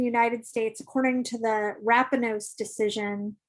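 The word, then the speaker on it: Rapanos: states according to the rappanose decision i think i'm pronouncing that correctly upon us rappanos decision it's wrapping us the u.s and the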